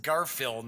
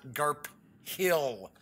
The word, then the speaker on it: Garphill: as Garfield games and I do believe it's pronounced Garfield not GARP Hill but I'm pretty sure so I am going